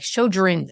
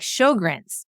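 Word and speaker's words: Sjögren's: he knew how to say it correctly, like Sjogren's. And I'm like, Sjogren's.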